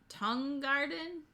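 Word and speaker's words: Tang Garden: think someone corrected me it's supposed to be more like tongue garden tang tongue guard i'm not really i'm not good at speaking so it looks like tang but it's apparently not pronounced that way uh this i got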